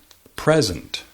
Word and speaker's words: present: for example the noun present signif regalo present the emphasis is on the first syllable present present presenta present